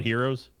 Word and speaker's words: gyro: it's like g-y-r-o yeah it's called heroes where you carve the the carve the meat off the thing i have never heard that i mean it's pronounced hero people give me you know people give me for saying gyro but the thing is